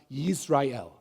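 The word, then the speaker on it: ישראל: The name in Hebrew, it's better pronounced Yisrael.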